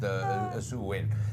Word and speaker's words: Samhain: So it was actually called Samhain. That was the name, which is spelled Saim AI, but anyway, I know because I actually had to memorize it. It's pronounced Samhain. That is how it is pronounced.